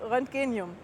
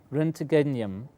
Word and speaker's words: roentgenium: cry sealing of element 111 which was called roentgenium and you see you can remove this cube